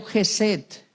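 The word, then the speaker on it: חסד: el amor de Dios se pronuncia en el hebreo jeset jeset así se pronuncia el amor de Dios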